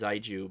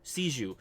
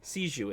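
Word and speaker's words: Xiegu: G and I should correct myself it's not pronounced i jus but I don't its seed you I think it sees you sees you anyway sees you is how you pronounce that good luck with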